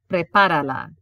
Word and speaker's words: prepárala: Sí, prepárala. Yes, prepare it. And notice the accent appears because without it, it would change the sound.